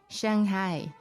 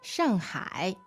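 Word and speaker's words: 上海: I know a lot of foreigners, they said Shanghai. Yeah, I noticed that Shanghai. Chinese people, when they mimic foreigners, they say Shanghai, right? But the correct way to say it is, Shanghai, Shanghai.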